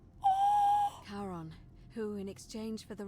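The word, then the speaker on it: Charon: The name you heard wasn't Karen. It was C H A R O N. as in Karon, the fairyman of the dead. Karon, who in exchange for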